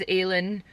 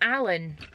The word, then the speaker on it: Aelin: I was convinced it was Aelin. It's Alan.